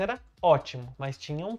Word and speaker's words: ótimo: viu ótimo com P, aquele P não era pronunciado, a pronúncia era ótimo, mas tinha um P.